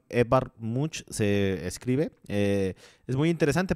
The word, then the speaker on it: Edvard Munch: que también busquen el trabajo de este pintor edward edvard munch se escribe es muy interesante porque el grito desde